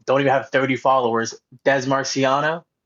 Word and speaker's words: Dez Marciano: Des Marciano, exactly how it's pronounced.